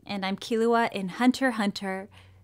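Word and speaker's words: Hunter × Hunter: and I'm Kahlua and Hunter hunter the X is silent I kind of forgot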